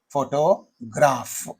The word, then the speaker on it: photograph: there, photograph is there, photograph. Okay, photograph. So there are three syllables in this. So in this photograph, the first syllable receives the primary stress. Then you say photograph.